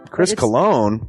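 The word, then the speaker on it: Christopher Colon: Chris Cologne? Smells good to me. But look at her. That broke that fucking cold little exterior. He's like, hee. But it is spelled COLON.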